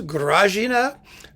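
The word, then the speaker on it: Grażyna: grazina there she is she would be more popular if more people could pronounce her name but it is grazina she is a fantastic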